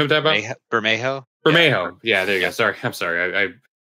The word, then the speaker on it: Bermejo: Barimo? Okay. Yeah. You know what I'm talking about? Bermejo? Bermejo.